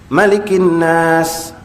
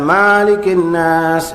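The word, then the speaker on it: ملك الناس: Tetapi jika Bismillahirrahmanirrahim, Qul A'udzu bi rabbinnas, Malikinnas, itu salah, karena Qul A'udzu bi-nass tidak dapat diperpanjang, itu hanya bacaan pendek. Malikinnas, bukan Maalikinnas, ini sesuatu yang sering kita dengar, maafkan saya, ketika memimpin tahlil, kan.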